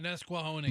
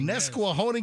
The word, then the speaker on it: Nesquehoning: I can't even pronounce this. Nesquehoning? Oh, Nesquehoning. Nesquehoning, yes.